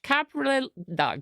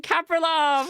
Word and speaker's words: Kapriélov: guest it's the wonderful ash capriles i knew i'd mess it up ash caprilov that was actually not too bad you know hello how close was i how would you how would you pronounce it well you were definitely closer than my gp who called me capri cuckoo once um that's amazing